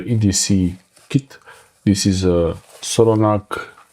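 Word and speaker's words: Solognac: This is a Solognag, I always say it wrong here, Solognag with G at the end, it's Solognag with C.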